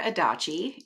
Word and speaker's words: Adachi: own words yeah well my name is kendra adachi it rhymes with hibachi um i am married